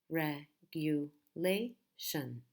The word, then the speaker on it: regulation: in the beginning but the main stress is in a different part of the word regulation regulation regulation so again we have achieve chief achieve initial initial initial instance in Stan's instance potential per 10 Joe potential and regulation red hue Lai shun regulation so in our next video